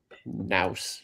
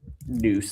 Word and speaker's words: Nous: It's um Nouse. I don't think that's how it's pronounced, but N us. And um N Research. Noose. That's right.